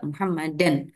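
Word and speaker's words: مُحَمَّدًا: ketika dia faah tanwin penulisannya ya Tapi bacanya Ya tetap muhammadan alifnya enggak dibaca ya y Inna muhammadan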